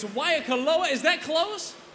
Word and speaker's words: Waikoloa: There's a 100% chance I will mispronounce it. It's Waikoloa, is that close? Waikoloa.